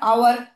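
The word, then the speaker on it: hour: হ্যাঁ, example, H যদি silent হয় তাহলে ভাওয়েল হবে আমাদের তার আগে, যেমন অ্যান বসবে, তাই না? অ্যান আওয়ার। এইচ যদি আমরা প্রনাউন্স করি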